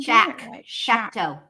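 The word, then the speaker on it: Choctaw: Am I saying it right? Chocktoe or chalk two? See, this is where I always mess it up. Shakto. Shock. Shock. See, I'm not even shakto. Shakto. There you go.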